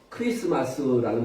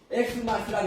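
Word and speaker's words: Xmas: 그래서 크리스마스라고 읽어야지 엑스마스라고 읽으면 완전히 짬뽕입니다.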